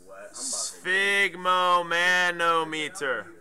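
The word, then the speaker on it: sphygmomanometer: writing sigon Sigma mon I pronounce it like this okay spigo manometer you know what's really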